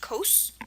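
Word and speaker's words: causse: you the origin and it's pronounced um as it would be in French it's pronounced Co see how short that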